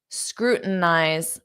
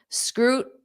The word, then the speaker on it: scrutinize: Notice how I'm saying this. Scrutinize. I'm not pronouncing that T. Scrutinize. So I'm putting my mouth in the position, but I'm not pushing out the sound, which is called a flat T. This isn't required. It's just how Americans pronounce it naturally.